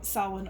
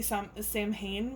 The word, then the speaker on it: Samhain: Season of the Witch, Samhain Oracle. Sorry, I always want to say Samhain, but it's Samhain.